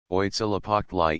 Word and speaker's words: Huitzilopochtli: The names of the more important gods are pronounced as follows: Oitzilapoctli equals Huitzilopochtli Tezcatlapaka equals Tezcatlipoca Quetzalcoatl equals Quetzalcoatli Zype equals Xipachalcohuitlicu equals Chalchihuitliquai.